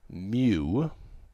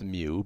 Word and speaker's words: mu: pronounced that's the sample mean if you see Mew pronounced pronounced mu but it's looks like a to us it